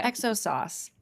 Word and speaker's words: XO sauce: So I wonder if it's if it's just pronounced exos sauce. Oh, maybe. Oh, no it is. It is exo. It's from extra old. Very good. Okay. Exo sauce.